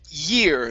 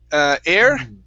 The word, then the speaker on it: year: This word here is pronounced year instead of air. It's year. Year.